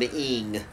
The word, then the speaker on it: Ng: How do you pronounce the word NG? There is no consonant in the word NG. I'm going to call him Ing. Mr. Ing. Philip Ing.